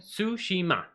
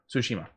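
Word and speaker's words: Tsushima: you say it again sushima sushima um i get the first part because i get the t is silent it's the ima at the end that i [ __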